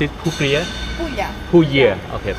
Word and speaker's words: Puglia: Enough how do you pronounce it Puglia Puglia okay Puglia Puglia Puglia ต อ น นี้ เ นี่